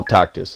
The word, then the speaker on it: Tacitus: No, Tacitus is his name. Tacitus. Yes. Tacitus. Okay. Well, pronunciation doesn't matter to me.